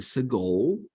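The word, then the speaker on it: סגול: And 3 dots gives you the sagol, which is eh.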